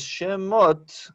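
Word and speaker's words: שמות: Si era Shemot o Shemot. Pero es Shemot porque esto completa la sílaba Ah, ya, porque es por una ser larga.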